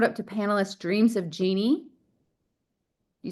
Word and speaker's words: Jeannie: Yes, it's Jeannie, like in a bottle.